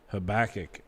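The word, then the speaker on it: Habakkuk: on the prophit uh I always said um habach growing up our old Pastor told me it was actually pronounced um habac I don't know what's actually right I don't I I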